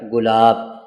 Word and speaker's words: گلاب: حروف جب جڑیں گے تو یہ بنے گا گلاب۔ پیارے بچوں سوچ کر بتائیے گا، کیا آپ نے کبھی گلاب دیکھا ہے؟